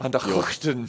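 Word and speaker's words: van der Gugten: I've heard you pronounce Cookton before. Van der Hookton.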